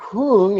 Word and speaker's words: hung: Now, hung is a Tibetan pronunciation of whom. Hungs kind of rhymes with who rung, the past tense of ring. Anyway, who rung? Hung.